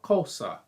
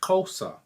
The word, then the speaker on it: Xhosa: language in south africa called cosa it's actually kosa it's with a click xhosa is how you spell it but it's the x is a click and there are several